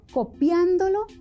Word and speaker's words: copiándolo: de la palabra entonces cuál es la sílaba acentuada en las palabras copiándolo y copiando selo claro en copiando no la sílaba acentuada es la antepenúltima y en copiando se